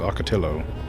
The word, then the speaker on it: Ocotillo: The end of the word is the same as in Nahuatl, or it is pronounced with an L. Oh, okay, so it's Ocotillo.